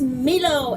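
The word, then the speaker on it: Milo: Islands adventure and my name is meelo m IL o four people asked me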